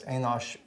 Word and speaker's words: Enosh: Not, that's not Enoch, by the way, that's Enosh. I think he's pronounced the same way in English, Enosh.